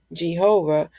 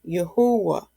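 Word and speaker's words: Yahweh: know the Hebrew e I know how to pronounce this word I know not to say Jehovah I would say yahwah okay and we'll talk about more of that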